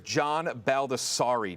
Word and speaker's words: John Baldessari: The correct answer is John Baldessari. John Baldessari. You had the last. John Baldessari.